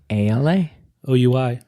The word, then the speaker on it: Alaoui: ALA. OUI. OUI. We. We. Right? Yeah. French. Allah. Oui. I will never forget that. It's Alaoui.